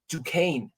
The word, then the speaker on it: Dukane: asses knocked out by Dukane I had to hear somebody say it before I could pronounce it I can't read that and just say oh yeah that's Dukan it makes no sense